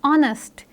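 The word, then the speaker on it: honest: नेक्स्ट word is ऑनेस्ट। ऑनेस्ट में एच जो है वो एक साइलेंट लेटर है।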